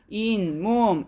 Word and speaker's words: 잇몸: 잇몸. 여러분 어때요? 없었던 니은 소리가 덧난다라고 하는 것은 새로 생겼다라고 생각해. 자, 없었던 니은 소리 어딨어요? 여기 있네요. 이 소리가 새로 생겼어요.